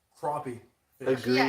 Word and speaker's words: crappie: Crappie. Crappie.